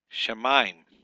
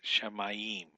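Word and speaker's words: שָׁמַיִם: Here, shemaim, not shemayim.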